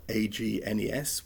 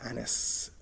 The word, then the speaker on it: Agnes: is um known as it's spelt a-g-n-e-s which i would pronounce agnes um and it explained that it's probably closer to anus so it's kind of closer to anne anus and yes it's like a sort of a frenchified version so even even though